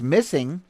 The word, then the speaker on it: MSSNG: to punish you okay mssng pronounced missing is a groundbreaking collaboration